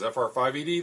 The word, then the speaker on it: FR5ED: This is FR5ED, the 5 is silent.